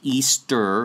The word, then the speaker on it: Ishtar: this constellation with the goddess Ishtar Easter is how you actually pronounce that look into that